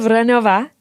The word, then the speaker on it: Vránová: But Vránová, is that how you say it? Vránová. Yeah. Pretty good? Pretty good. Okay. Vránová is a pioneering entrepreneur